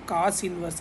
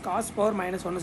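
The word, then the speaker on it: cos⁻¹: So first வந்துட்டு காஸ் இதை வந்து நம்ம எப்படி ப்ரொனவுன்ஸ் பண்ணணும் அப்படின்னா, காஸ் இன்வர்ஸ், காஸ் பவர் மைனஸ் ஒன்று சொல்லக்கூடாது, காஸ் இன்வர்ஸ் 7/25 தான் நம்ம இதை வந்து ப்ரொனவுன்ஸ் பண்ணணும்.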